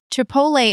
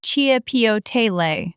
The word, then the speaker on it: chipotle: Chipotle is a tricky one even for native speakers. It is a smoked chili, and it is pronounced roughly chipotle.